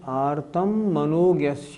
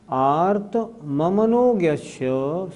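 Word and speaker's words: आर्तममनोज्ञस्य: प्रयोग तगाय स्मृति समनारा बहुत से लोगों का उच्चारण होता है आरम मनोगस नहीं ऐसे नहीं आर मम मनोग्यस संप्रयोग सूत्र का अर्थ देखें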